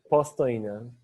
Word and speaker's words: Postojna: How do you say it? Postojna.